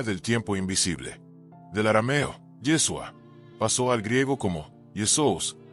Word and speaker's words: Yeshua: Intenta pronunciarlo despacio. Yeshua. Siente cómo se forman las sílabas en tu boca, cómo el sonido vibra de manera diferente a Jesús.